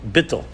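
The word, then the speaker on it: bittul: for it called in hasidic terminology it's called bitto you may haven't if you haven't heard this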